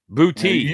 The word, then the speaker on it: Boutte: Booty is how you say it.